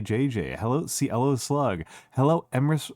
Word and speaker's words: Emrys: Oh, Emrys rhymes with abyss. Thank you for the follow. Thank you for the follow. Emrys with abyss.